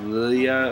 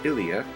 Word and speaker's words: Ilia: ilya which um i i always pronounce yeah like lilia or something because i always because the way the game's font looks i thought it was two l's but no it's ilia the mayor's daughter um